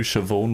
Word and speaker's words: Siobhan: Who knew Siobhan was spelled with a B? Yeah. Yeah. Ever seen Well, that? with an S, but there's a B. There's no V in it. It's a B.